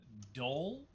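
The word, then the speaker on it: dhole: is called uh actually apparently it's pronounced a dol like dole fruit cups yeah apparently no whip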